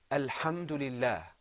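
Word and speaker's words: الحمد لله: this is insulated fatiha this is pronounced alhamdulillah repeat after me alhamdulillah alhamdulillah Pharaohs did you hear the hums in the very beginning yes okay now if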